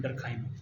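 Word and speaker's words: Durkheim: डरखाइम के spelling देख लें, DURKHIEM, डरखाइम।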